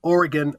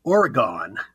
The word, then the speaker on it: Oregon: pronounce it correctly but here on the east coast and in the Central States we all pronounce Oregon Oregon and that drives oregonians crazy and I've heard I